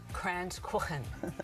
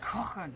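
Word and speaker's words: Kranzkuchen: Okay, well today we've got Kransküchen. That's how you pronounce it. Kransküchen.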